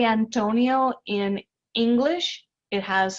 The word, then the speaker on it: Antonio: When we say Antonio in English, it has 4 syllables. Antonio. When we say it in Spanish, it actually has 3. Antonio.